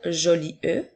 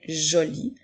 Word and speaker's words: jolie: Puisque le son E, la lettre E est une lettre muette, nous n'allons pas dire joli E, mais bien joli, comme dans la phrase « La robe de maman est jolie ».